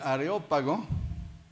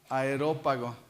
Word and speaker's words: Areópago: bien sé que yo de niño pronunciaba aerópago pensando que era ya está decía y aquí se equivocaron porque debe ser de aeropuerto no no no no areópago porque era del dios ares dedicada a a marte